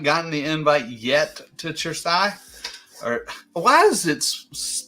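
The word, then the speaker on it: Cersaie: the invite yet to chersai or why is it pronounced your Sai and it's spelled with the c I don't understand well c e in Italian is a chess sound so sure CE is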